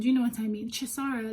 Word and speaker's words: Chisara: i pronounce your name my name is so easy to pronounce chisara that's me not even giving you like the nigerian intonation you know what i mean chisara like it's not it's